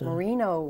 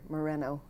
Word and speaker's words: Moreno: see you thank you it's so nice to hear my name pronounced properly that's terrific you mean it's it's mispronounced marino marino well I suppose it's natural but it's very nice to hear Moreno uttered now and then I've got